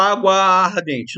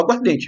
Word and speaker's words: aguardente: Então, há uma perda de fonema, há uma perda de som. Você não fala água ardente, não. Você fala água ardente, vira uma coisa só.